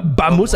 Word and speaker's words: vamos: ça s'écrit Vosotros? Mais quand tu Non, dis mais alors, tous Vamos, les V. c'est Non, Bamos.